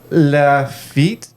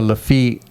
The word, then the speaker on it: Lafitte: Lafitte.